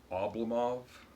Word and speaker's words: Oblomov: Oblomov, that's how you say it, by Gonkorov.